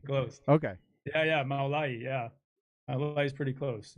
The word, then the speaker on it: Mawlayee: Mawlayee. Mawlayee? I'm trying to do it phonetically. Close. Okay. Yeah, Mawlayee.